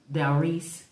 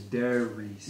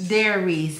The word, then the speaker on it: Delreese: I'm giving my flowers to Delreese. Did I say it correctly, man? No. What's her name? It's Delreese. Delreese.